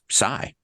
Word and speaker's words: Cy: The reason that we adopted sai is phonetically the c aj is pronounced like sigh. So everybody for just you know purpose of ease would say we're just going to call you sigh or mic sai.